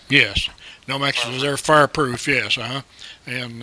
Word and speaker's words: Nomex: And that pronounced correctly, Nomex. Yes, Nomex is their fireproof.